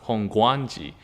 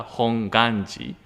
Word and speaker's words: Hongwanji: however of course again because we having a w it is cannot be held if people pronounce hong guanji but just a correct pronunciation is that we call it the hong ganji the temple of the